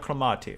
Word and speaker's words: Calamati: It wasn't too bad the way you pronounce it. Okay, it was quite right. Leonardo Calamati. Okay, yeah, that kind of the rhythm in the Italian pronunciation.